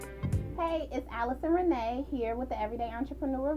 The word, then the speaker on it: Nyanue: Nyanue here with the Everyday Entrepreneur vlog. I have the amazing Watchen. How do I say your last name, Watchen? Nyanue, so the first N is silent. Watchen Nyanue.